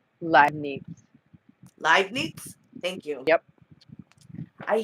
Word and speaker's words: Leibniz: How do you pronounce that name? Leibniz.